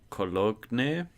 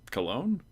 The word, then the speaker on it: Cologne: The G is silent, so it's just Cologne? Or is it Cologne? Cologne. Okay. Why would it be pronounced like that? What? I took German for a year, so I at least know how to pronounce German words, but that one that one got me. Oh, it's Latin. That explains it.